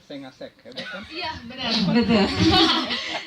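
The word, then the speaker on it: 5àsec: tulisannya 5 asek tapi mereka bacanya sengasek, hebat kan?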